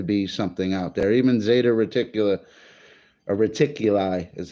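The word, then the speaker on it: Zeta Reticuli: there has to be something out there even Zeta reticula a reticuli is how you say it 39 light years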